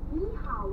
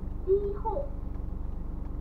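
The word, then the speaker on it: 你好: また、ニーハオは台湾語で、ニーホーと発音します。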